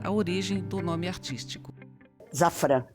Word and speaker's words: Szafran: origem do nome artístico zafran sz que muita gente pronuncia chfr porque é de de origem polonesa quando eu comecei a